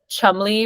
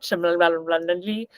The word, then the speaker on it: Cholmondeley: and their neighbor, this Marchioness of Cholmondeley, which is how you say it, not Cholmondeley.